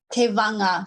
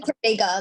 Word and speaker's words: Tevaga: Tevaga. So the G is like a NG somewhere. I know it looks like Tevaga, like some kind of Latin name, but it's Tevaga.